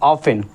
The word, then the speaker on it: often: अब देखो क्यों साइलेंट होगा, अब देखो इसको क्या पढ़ा, ऑफन, ऑफन टी हमारा क्या है, साइलेंट हो गया। क्यों साइलेंट हुआ है, क्योंकि टी के बाद में हमारा ई एन है, समझ रहे हो।